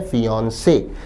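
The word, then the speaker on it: fiancé: शब्द का उच्चारण है फिनसे।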